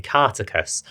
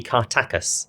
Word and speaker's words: Kartakass: This one is set in Cartacus, although I think the pronunciation might be Kartakus.